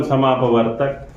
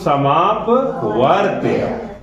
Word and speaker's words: समापवर्त्य: देखो बार बार आप लोग उच्चारण करते हो, लघुत्तम समापवर्तक, लघुत्तम समापवर्त्य। महत्तम समापवर्तक होता है और लघुत्तम समापवर्त्य होता है। आधा त और ए पे ऊपर वाला है।